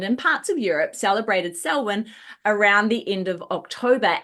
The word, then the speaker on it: Samhain: It's pronounced Swin.